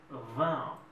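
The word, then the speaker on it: vingt: un peu compliqué mais on ne prononce pas G on ne prononce pas t mais ce que ce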